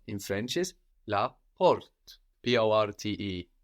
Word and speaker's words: porte: The door in French is la porte, P-O-R-T-E. And this R kind of goes a bit in the throat in French. You can hear that. La porte. La porte. Like portul, no? And this is a feminine word.